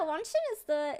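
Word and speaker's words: 원신: Wait, yeah, Wanshin is how you say Genshin in Korean, so.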